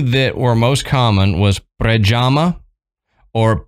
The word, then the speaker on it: Predjama: told me to do go google search a pronunciation and the the two that were most common was prajama or predama yeah so um we'll probably because of our